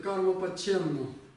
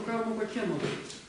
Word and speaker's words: ཀརྨ་པ་མཁྱེནནོ།: Так вот, они произносят карма-паченну.